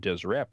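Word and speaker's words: Deshret: And in the lower kingdom, it talks about Desireette and and it's all consonants. There's no vowels in there. It's DSRT, but it would have been pronounced something along the lines of Desireette.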